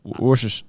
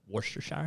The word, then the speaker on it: Worcestershire: there's a couple times they probably told you you were saying it wrong the first time i said what do you say i used to say chester's worchester show chester science yeah worcestershire i say wash worcestershire what do i say